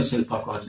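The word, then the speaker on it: ศิลปากร: उच्चारण में शिल्पा कौर है, लिखने में शिल्पा कर है। वहाँ इस तरह की पद्धति हाइटस है क्योंकि उच्चारण और तरह से किया जाता है, लिखा और तरह से जाता है।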